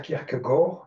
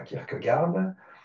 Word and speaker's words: Kierkegaard: je vais l'appeler euh je vais prononcer son nom à la Danoise donc je vais dire Kirk Gor et pas Kirk garde euh donc ne soyez